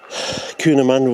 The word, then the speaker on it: Cootamundra: I know that's the Coonamunra wattles, spelled Cootamundra, but everyone calls them Coonamunra.